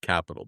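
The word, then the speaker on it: Qapital: had to figure out it's actually pronounced Capital but we can call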